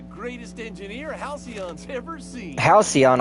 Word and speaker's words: Halcyon: Halcyon. Oh, that's how you pronounce it. Aside from you, That was Halicon.